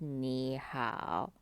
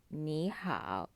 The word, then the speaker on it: 你好: as desert toe Wow so instead of being pronounced as knee how it becomes me how Neha so this is the